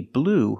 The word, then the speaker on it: blew: So you can say she blew her whole paycheck on those shoes. So remember, blow in the present, in the past, blew. Pronunciation just like the color blue.